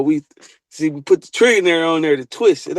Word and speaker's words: Trillionair: We just pronouncing it trillionaire. It ain't even spelled the same thing.